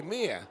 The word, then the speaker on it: mayor: Yeah, that's an interesting pronunciation. I would always say mia. May. Yeah, that must be the Australian coming out of me.